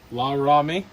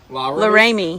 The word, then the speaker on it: Laramie: La Rami. Laramie. La Rami.